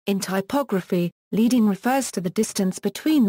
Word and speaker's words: leading: Origins: the word comes from lead strips that were put between set lines of lead type, hence the pronunciation leading, and not leading.